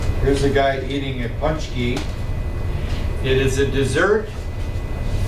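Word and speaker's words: pączki: Punch key. Do you see an N? No n but it's pronounced and let's see if they give me a picture somewhere. Here's a guy eating a punchki.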